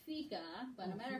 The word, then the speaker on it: fika: I know some of you are saying fika. My understanding is it's fika, but no matter how you say it, what it means is a Swedish coffee break.